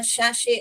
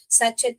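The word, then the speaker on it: sachet: कुछ भी चीज हो उसे शशे बोलते हैं सचित नहीं बोलते हैं बेटा इसको बहुत लोग इसे सैचित बोलते हैं जो नहीं पढ़ना है आपको इसे क्या करना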